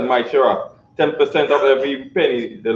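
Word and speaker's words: מעשר: Means tenth in Hebrew and pronounced as Maishera.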